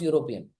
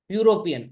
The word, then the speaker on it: European: how do you pronounce European it's starting with the letter E but like eagle you're not saying e you are saying u European answer is European not